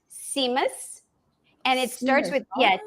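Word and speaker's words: tzimmes: Uh it's pronounced seamus and it starts with Yes. It's like t z i ms I think it is. And but you pronounce it the t is silent.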